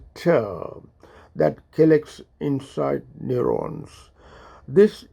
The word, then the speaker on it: tau: Neurofibrillary tangles are abnormal accumulations of a protein called tau, or it's pronounced as TER, that collects inside neurons.